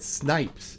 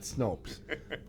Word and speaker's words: Snipes: anyways not no it Snipes is how it's pronounced not Snopes God check your prescription